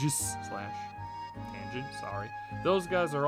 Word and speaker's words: Aegislash: I mean, Greninja and Aegislash, that's how you pronounce it. Not Aegislash, not whatever else anyone says. It's Aegislash.